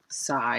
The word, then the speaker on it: psi: use a greek letter psi so you'd say psi is how it's uh pronounced and the greek letter side this is